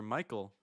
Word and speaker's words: Michael: And I chose Dr. Michael because it rhymes with psycho.